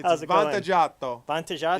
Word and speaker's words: Vantaggiato: Vantaggiato. Vantaggiato? You gotta say it like an Italian, like you want a pizza. Like, give me a Vantaggiato.